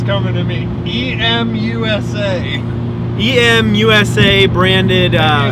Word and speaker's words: EMUSA: it's coming to me e-m-u-s-a e-m usa branded uh it's pronounced emusa i don't know the musa emusa uh ebay turbo muffler